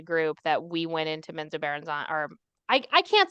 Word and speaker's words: Menzoberranzan: time for the group that we went into Menzoberranzan, or I can't say it right. We're just gonna go. No. You are. I listened to both R.A. Salvatore and others. He says Menzoberranzan.